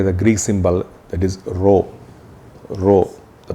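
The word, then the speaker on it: rho: is denoted by the Greek symbol that is row row the pronunciation is Rh row and again say mass density of water say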